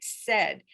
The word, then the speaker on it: said: They're words like said, that has that AI vowel chunk, but it makes a short E sound, SAID.